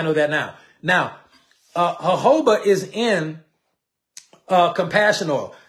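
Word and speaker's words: jojoba: and this was hoba now it's spelled Joba so when I first got involved in essential oils I was running around saying Joba oil sounding like an absolute I didn't know it is hoba I did not know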